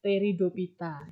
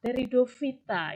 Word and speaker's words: Pteridophyta: ngomongin bahasa Latin eh phy itu bacanya v tapi entah kenapa eh bibir saya lidah Saya tuh Indonesia banget gitu ya bacanya talopita gitu briopita padahal harusnya Kal Vita briovita teridovita gitu tapi y wiso gitu